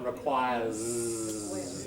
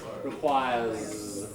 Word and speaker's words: requires: people saying it right requires put your finger there and hold that last sound requires it's voiced isn't it I'm hearing I'm hear